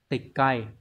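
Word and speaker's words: 撤回: triệt và chữ hồi từ này đọc là tịch cày tịch cây này có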